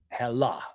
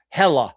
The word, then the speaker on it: Hela: So Helheim is the home of hell, and Hela, however you want to pronounce it. Some people pronounce it with the A on the end. I'm going to do that from now on through this video. Hela, so you know I'm